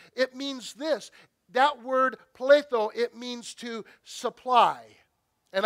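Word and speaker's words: πλήθω: It means, it's pronounced pletho, not pleido.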